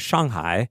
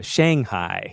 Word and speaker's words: Shanghai: Because, it's like, the proper way to say is Shanghai. Right. But, if you're around like other foreigners or people who are not speaking Chinese, you feel almost like obligated to say Shanghai.